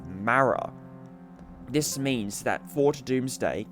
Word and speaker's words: Mara: And this is where you can tell that they filmed that before as Tegan pronounces Mara as Mara.